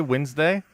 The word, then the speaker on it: Wednesday: it you say Wednesday I learned how to spell it by when neste but I don't pronounce it like that I don't feel like wednes day Wednesday is hello koler